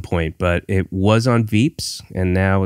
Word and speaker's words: Veeps: No, this is a, it's, I think, I assume it's Veeps like VIPs, but they spell it V-E-P-S.